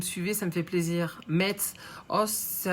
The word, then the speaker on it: Metz: Le T dans Metz ne se prononce pas, Will. Donc, ça fait quoi, Metz?